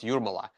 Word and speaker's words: Jūrmala: My grandfather is from Jūrmala. It's pronounced Jūrmala.